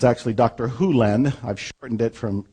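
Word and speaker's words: Hew Len: and it's actually Dr Hulen I've shortened it from E to Dr land but it's actually Dr Hulen if you want to say his name correctly and Doctor Who lens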